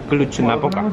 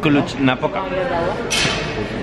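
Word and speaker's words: Cluj-Napoca: El sitio se pronuncia Klutschnapoca. Klutschnapoca.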